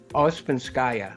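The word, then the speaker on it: Ouspenskaya: all the time i spin how do you pronounce the name because i see you know i think ospinskaya that's it o-u-s-p-e-n-s-k-a-y-a the gypsy woman and the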